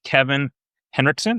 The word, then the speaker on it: Kevin Henrikson: His name is Kevin Henrikson. Am I pronouncing it correct?